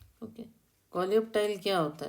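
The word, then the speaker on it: coleoptile: Okay, कोलियोप्टाइल क्या होता है? क्योंकि ये कोलियोप को अलग बोलिए और टाइल को अलग बोलिए, फिर जो प्रोनाउंस हो जाता है।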